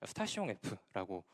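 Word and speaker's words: Station F: 어 ppd 가운데 보이는 스테이션 F이 프랑스식으로 발음하면 스타시 에라고 발음합니다 뭐 예 이것도 나름의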